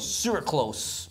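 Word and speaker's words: sucralose: But it's got aspartame, or not aspartame, it's got sirclose. Sirclose. It rhymes with gross.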